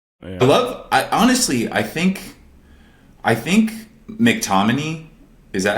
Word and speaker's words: McTominay: I think McTominay, is that how you say it? McTominay?